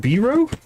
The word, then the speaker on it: Byrog: And this is Byrog, rhymes with hero. Right, Byrog. So it's Biro? Is that how you say that? Rhymes with hero. I do like this in-world pronunciation guide. So I guess we're going with Biro?